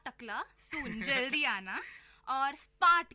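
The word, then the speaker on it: spät: और स्पार्ट का मतलब है लेट. स्पार्ट। स्पार्ट का मतलब है लेट।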